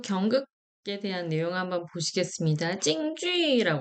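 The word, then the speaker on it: 京剧: 대한 내용 한번 보시겠습니다 찡주 하죠 거 땡땡 발음이 진주가 아니고 주라고 읽으셔야 돼요 중국 경극이 굉장히 유명하죠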